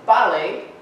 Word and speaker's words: Bale: And then Bale is Bale, penultimate stress, meaning the first syllable is stressed, two syllables in the word.